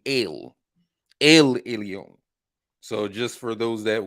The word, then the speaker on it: El Elyon: what I'm saying alphabet but they use the E for pronunciation purposes but it's really ill Elion so just for those that would like to pronounce things correctly ale eleon which means what most